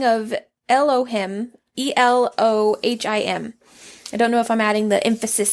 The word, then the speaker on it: Elohim: is Al him this is a spelling of Elohim e-l-o-h-i-m I don't know if I'm adding the emphasis on the correct syllables or something but it is a Hebrew